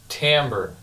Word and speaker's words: timbre: Timbre and it's spelled t-i-m-b-r-e so it's spelled like Timber like a tree falling over but oddly enough it's pronounced Timbre and it's a fairly